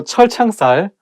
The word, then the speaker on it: 철창살: So 철창살, it also has 2 CH sounds, so it should be not easy to pronounce.